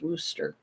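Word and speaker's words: Worcester: Westchester to me but it's pronounced Wooster one of my mods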